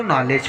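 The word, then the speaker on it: knowledge: नॉलेज, यहाँ पर भी एन से पहले के आया है तो यहाँ पर भी हम के का उच्चारण नहीं करेंगे, इसको नॉलेज पढ़ेंगे।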